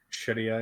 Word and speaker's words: Sharia: Is that how you pronounce it? Yeah, Sharia.